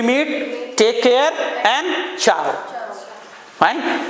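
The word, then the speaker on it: ciao: Till we meet take care and चाऊ। Fine. इसकी spelling होती है सी आई ए ओ। प्रोनंसिएशन है इसका चाऊ।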